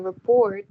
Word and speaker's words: rapport: At the same time, building a rapport, it's essential. Rapport. Rapport Это is French, essential. там не читается T, да.